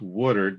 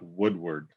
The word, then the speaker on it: Woodard: butchered her company name it's woodard not woodward there's a i used to i grew up in detroit on a street called woodward and i always keep no